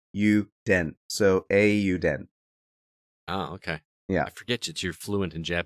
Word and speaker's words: Eiyuden: was pronouncing that because i was pronouncing it iuden they pronounce it incorrectly on the trailer then man i swear i listened to the trailer they said euden but say it again they're silly uh a you den because yeah because if you if you uh